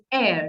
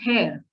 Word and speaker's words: heir: they are pronounced or know the bits which are silent no h e i r is air not hair okay we don't call